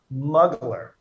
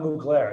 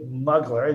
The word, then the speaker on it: Mugler: have the pronunciation guide it's muggler it's not mu glare it's been said so many different ways terry moogler terry mugley the proper pronunciation is t arie muggler you can thank fashion